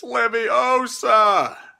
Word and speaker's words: Leviosa: Potter what are you doing well ten points from Gryffindor uh yeah yeah you're saying it wrong it's Leviosa uh yes uh I